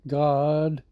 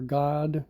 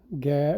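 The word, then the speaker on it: גד: Here gad gimmel dallet is uh pronounced as god or god gad we say gad in English uh and it means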